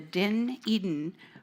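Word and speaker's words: Dunedin: to say it right it's spelled differently than how it sounds it's from New Zealand and they call it the den Eden report it's a multi-disciplinary health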